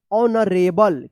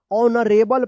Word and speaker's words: honorable: H silent है। देखिए यहाँ पे HONORABLE, इसको क्या पढ़ेंगे? ऑनरेबल। क्या पढ़ेंगे? ऑनरेबल पढ़ेंगे।